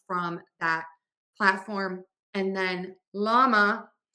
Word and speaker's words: LLaMA: And then LLaMA, the spelling is confusing. It's spelled with LLaMA. And we don't have this like double L sound at the beginning of words in English. So we just use a regular L, llama, llama.